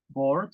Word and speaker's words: bored: El verbo bore, el verbo aburrir, se escribe bore, tiene dos formas también, con ed, bored, bored, la E no suena, bored, se traduce como aburrido, y boring, con ing, se traduce como, para nosotros también aburrido.